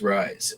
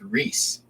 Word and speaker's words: Rhys: IMO all right oh it's Welsh okay that checks out is Rhys how you pronounce rise all right let's find out Rees it's pronounced Rees I don't like that